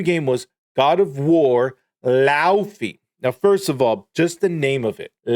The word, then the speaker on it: Laufey: Everybody's been talking about God of War, Laufey. That's how you pronounce it.